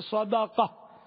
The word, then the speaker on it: صدقہ: اور دوسرا ہے صدقہ، دال پر ہے زبر. تو یہاں جب خیرات کے معنی میں آئے تو صدقہ اصل تلفظ ہے صدقہ. تو صدقہ یعنی صدقہ، ہمارے یہاں تو صدقہ یہ دال کو ساکن نہیں پڑھتے.